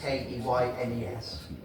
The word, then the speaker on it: Keynes: I know it's spelled Keynes, K-E-Y-N-E-S. But here in the village, we prefer to pronounce it Keynes.